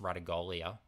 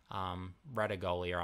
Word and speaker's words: Ratugolea: Asava Ratugolea, I believe it's actually pronounced Ratugolea, I think I heard him say in an interview, so commentators might have to update their pronunciation.